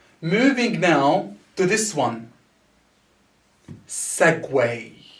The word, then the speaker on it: segue: now to this one segway so the ue here are the spelled as way segway segway is the movement or